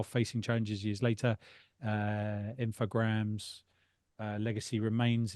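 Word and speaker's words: Infogrames: just made Reviving The Classic info uh or infograms is how they pronounced it brand and reintroducing it as a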